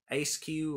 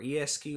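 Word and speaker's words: Eiscue: designs has to be a skew or esq I think it's a skew that's how I'm gonna pronounce it how you pronounce this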